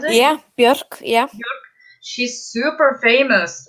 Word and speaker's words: Björk: Is that how you pronounce it? Yeah, Björk, yeah.